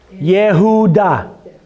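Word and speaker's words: יהודה: Yehuda. So it's a Y sound, not a J sound, like in most cases.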